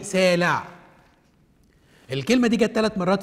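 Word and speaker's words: סלע: جت في ملوك الثاني 14، الكلمة دي بالتشكيل ده العين تتنطق، رغم انها موجودة في الكلمة الاولى بس كانت سايلنت، فمننطقها ايه؟ سالع.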